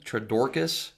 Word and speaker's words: Twordokus: i am joined today uh by mr tradorcas and i think i always butcher your